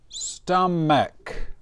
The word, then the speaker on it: stomach: Stomach with an M. And the CH we pronounce like a K.